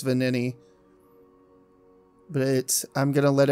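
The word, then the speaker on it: Venigni: You don't pronounce the G. I think it's Vanini.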